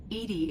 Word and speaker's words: EDI: airlock is a jar why are you named Edie Edie is the phonetic pronunciation of e di that is an acronym